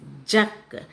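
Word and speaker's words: जग: house sis ஒன் இஸ் ஜக் ஜ க last letter is க சோ யூ shouldுட் சேஸ் இக் ஜ க க ஜக் ஜ க ஜக் ஜ க ஜக்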